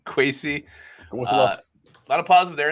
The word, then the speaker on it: Kwesi: A lot of positive from people who know Kwesi rhymes with Casey. Kwesi.